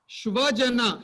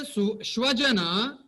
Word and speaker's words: shvajana: If you say shvajana, the just sa and sha, a small difference in our pronunciation, it becomes dog people.